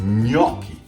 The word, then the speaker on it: gnocchi: to teach you it's gnocchi the gn sounds a little hard for america but italians pronounce it gnocchi just like you say lasagna or my last name